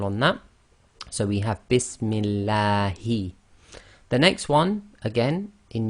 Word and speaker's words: Bismillahi: Kasra before the name of Allah makes the Lam of Allah go tarqiq, i.e. light.